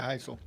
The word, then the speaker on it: Hisel: Yeah, Heisel.